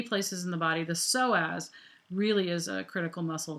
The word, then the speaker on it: psoas: psoas muscle this allows muscle obviously pronounced so as is the deepest muscle